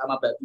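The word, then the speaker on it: أما بعد: Jadi antum kalau bicara harus amma ba'du juga yang dia Rasulullah Muhammad sallallahu alaihi wasallam. Boleh amma ba'd juga boleh, tergantung bacanya suka-suka kita. Ya. Ya boleh ba'du, boleh ba'd, boleh.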